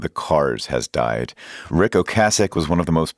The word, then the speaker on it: Ocasek: Cars frontman Ric Ocasek, and yes, it is pronounced Ocasek, on the set of the music video for the band's 1984 hit Drive.